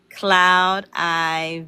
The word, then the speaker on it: Cloudi: Cloud Eye Vision Tease. Did I say it right? Mhm. Okay. And uh that's sad cuz I do I be saying cloudy veget so I want to say it right.